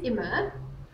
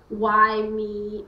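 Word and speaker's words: Yme: So his name is Immer, but it's an old Dutch name, and it's spelled Y-M-E. So people end up saying why me or Yime, or yeah, it comes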